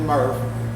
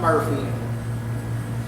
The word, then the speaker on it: Murf: ler so and I my last name is murf not Murphy always get help try